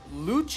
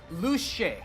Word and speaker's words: Luce: from the director that it's not Luce. I know there's a lot of Luce fans, but she's pronounced Luce, not Luce. So let's call her Luce from now on.